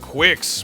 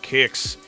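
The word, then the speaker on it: Qix: number seven we have Quicks by Tito and yes that's how it's pronounced if you're reading the Japanese Katakana even though for decades I was convinced this game was called Kicks this is about as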